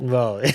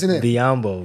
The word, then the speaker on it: Biyombo: Biyombo. How I How I How do you say his name? How do you say his name? Biyombo.